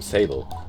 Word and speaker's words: Sable: Citra I tell her I'm Sable and it rhymes with table and she offers a